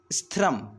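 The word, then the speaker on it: स्थिरम्: थोड़ा अशुद्ध बनाता है तो इसको हम कहेंगे स्थिरम स्थिरम आसनम आत्मन ऐसे जी ठीक है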